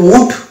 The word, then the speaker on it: would: যে শব্দটা আমরা দেখলাম, এখানে লকে আমরা সাইলেন্ট হিসেবে ধরবো এবং তার কোনো উচ্চারণ করবো না। এর উচ্চারণ যদি আমি এই শব্দটার মধ্যে না নিয়ে আসি তাহলে অর্ডটা একদম সঠিক হয়ে যাবে উড।